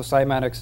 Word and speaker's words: PsimatiX: turns into sand again and so really so simatics is the study of how sound affects matter